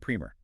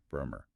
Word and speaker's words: primer: If you were talking about a small, informative introductory book, it's pronounced primer. But if you're talking about the initial coat of paint you put on a wall to prep it, it is P-R-Y, Bremer.